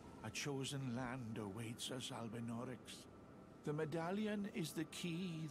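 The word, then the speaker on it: Albinaurics: Albinorics, that's how you say it.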